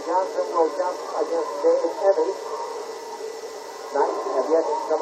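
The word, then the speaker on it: Emigh: And the center, big man on the court for the Soquel Knights, Dave Emmy, and he spells that name E-M-I-G-H, but pronounces it Emmy, a 6'6" junior.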